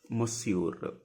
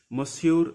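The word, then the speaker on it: monsieur: you don't know a male we call like mure mure like Mis mure Mister if you want to say like hello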